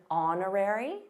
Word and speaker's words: honorary: related by the way did you notice the silent h in honorary first of all notice